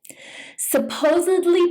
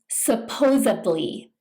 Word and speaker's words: supposedly: Supposedly means to indicate that something is assumed or believed to be true. Some people mispronounce this by saying supposedly with a B sound.